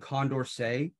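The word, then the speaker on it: Condorcet: matter uh where uh dedro and Condor say spelled like Dieter rot and condorsay they wrote the first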